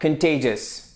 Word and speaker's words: contagious: هذه الكلمة تنطق contagious.